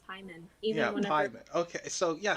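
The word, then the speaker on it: Paimon: Is it Pyman or Payman? I always get his name wrong. As you guys can tell, I'm terrible with names. I was to say, I've always heard it as Pyman.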